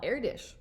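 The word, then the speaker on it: Erdős: told us about this math pilgrim named paul erdos oh and it tells you how to pronounce it so i've been pronouncing it wrong paul erdish i was intrigued when our younger son benjamin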